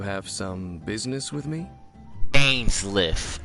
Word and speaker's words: Dainsleif: My name's Dainsleif. I suppose you have some business with me? Dainsliff. Okay. I was saying dance chief or something.